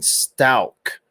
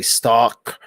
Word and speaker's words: Stauk: I call her Teabag because people kept getting mad at me for mispronouncing Stauk. I would say stalk or something, and people were like, it's Stauk, it's Stauk.